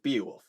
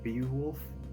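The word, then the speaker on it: Beowulf: say is I say I pronounce it be wolf with the e sound I see be wolf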